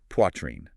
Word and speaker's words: Poitrine: And finally, Poitrine. You say qua, rhyming with a spa, but with a W tucked in there, and then trine at the end. Poitrine.